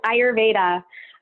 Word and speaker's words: ayurveda: that is and and also how to properly pronounce it yes ayurveda so ayurveda is commonly known as India's holistic